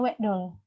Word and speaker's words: wekdol: Nah, untuk gila ini sendiri, seperti saya bilang, ada penekanan di D, huruf D. Jadi bacanya wekdol.